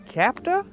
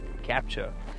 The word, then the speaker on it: Captur: Yes, we know this is the new Renault Captur. No, it's pronounced Captur.